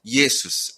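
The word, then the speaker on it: Ἰησοῦς: 원래 발음상으로 하면 이에수스, 그래서 예수 이렇게 되죠.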